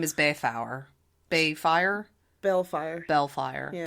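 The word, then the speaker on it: Baelfire: Bellfire. Bellfire. Yeah. But it's like B-A-E-L fire. It's spelled like Balefire.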